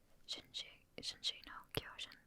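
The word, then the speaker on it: 進撃の巨人: So, Shinji no Kyojin. I think that's how it's pronounced in Japanese.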